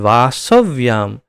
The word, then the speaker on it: वासव्याम: वासव्याम, व्यास नहीं है ये शब्द, ध्यान रखिए उच्चारण में।